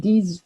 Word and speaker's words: disent: Now remember, we don't pronounce the ENT there on the end of these. Okay, mes copains disent que.